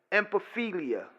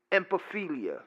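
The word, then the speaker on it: ephebophilia: Akeley you know there's something called empathy Lea I mean repeat that empathy Lea let me spell it for you it's e ph e b o P H I L I empathy Lea and that's an older person an adult person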